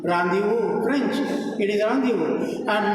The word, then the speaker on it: rendezvous: For example, a word like Rendezvous, it is a French word. My students would say rendezvous, almost like a rendezvous. It is rendezvous, very soft word. Rendezvous, French, it is rendezvous.